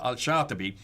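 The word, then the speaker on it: al-Shafi'i: with my american english american yeah arabic so al-shafi he then takes and realizes that there were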